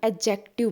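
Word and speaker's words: adjective: हम एडजेक्टिव नहीं बोलते, हम एडजेक्टिव बोलते हैं, डी यहाँ पे साइलेंट रहता है, ठीक है, एडजेक्टिव, ठीक है।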